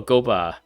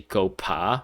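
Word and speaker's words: Guoba: Chinese, but I guess in Japanese it's actually Gopa with a P, and maybe they changed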